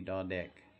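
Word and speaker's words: ด เด็ก: You put your tongue kind of just above your teeth, the back of your front teeth, and make that da da da sound like duck.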